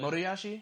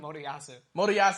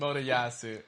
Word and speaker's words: Motoyasu: I would like to say that you still have not pronounced his name correctly. Motoyashi? Nope. What the fuck? Motoyasu.